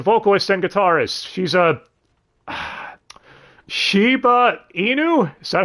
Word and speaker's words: Shiba Inu: She's a Shiba Inu?